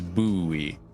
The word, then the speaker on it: buoy: Mansion coming up, that the correct pronunciation is buoy. Oh, okay. Yeah. Oh, yeah, just think about ghosts, and then you'll have it.